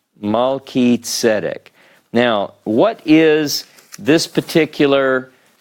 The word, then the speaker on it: Melchizedek: But when we look at this, how is it that we can't get chi, like Chizedek, because this is a hard sound, more like a K. We know this is Mal, Ki, Tzedek. Melchizedek.